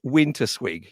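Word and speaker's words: Winterswijk: you come from a town called am i pronouncing it right when i say winter swig yeah yeah yeah as i said winter swig yeah so in winter squeak i was noticing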